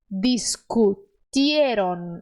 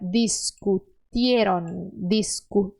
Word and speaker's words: discutieron: Tigre, porque no espanhol a letra T ela é sempre suave, suavezinha. Então, discutieron, é assim que se pronuncia, discutieron, suave, tá?